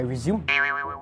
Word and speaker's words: résumé: I'm setting up my resume soon I'm pretty sure it's pronounced as a resume resume no it's resume isn't